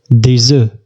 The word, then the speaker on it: des œufs: عندما تكون في الجمع لا ننطق الحرف F نقول des œufs.